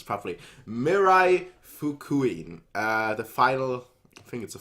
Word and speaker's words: Mirai Fukuin: time back so we're here to finally do Mirai fook I'm glad to pronounce properly Mirai Fukui the final thing is the final well doesn't